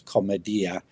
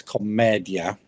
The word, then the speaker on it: Commedia: In Florentine of the time, it was commedia, with the stress on the final IA. Well, in its modern Italian, it's commedia.